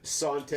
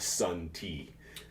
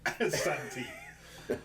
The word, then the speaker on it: santé: So in France, santé. Santé. Not sun tea. Santé.